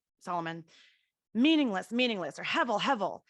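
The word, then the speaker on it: הֶבֶל: but um it's pronounced hevel it's h-e-b-e-l but it's pronounced hevel and what it really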